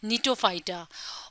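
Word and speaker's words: Gnetophyta: सायकेट्रोफाइटा जिनको फीता निटोफाइटा इस शब्द का जो जी है यानी जो लेटर जी है वो साइलेंट है तो इसको पढ़ा जाता है निटोफाइटा और जो चौथ ग्रुप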